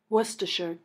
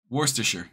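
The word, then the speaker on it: Worcester: is that's not how you pronounce it bro son son of a is there no please Worster okay thank you Worster got it now we can play Shante oh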